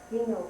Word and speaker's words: Gennaro: That's the way it looks to us, but in Italian they pronounce different letters differently than we do, so it's really hard. They call themselves Gino family.